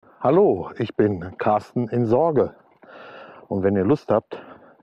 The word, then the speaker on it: Zorge: Sorge mit Z. Ich denke mal, dass es Sorge ausgesprochen wird.